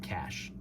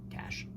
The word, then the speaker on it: cache: I know, I looked up the American pronunciation, so I just said cash, because I'm American. It's like niche, I say niche, and then instead of cache, I say cash.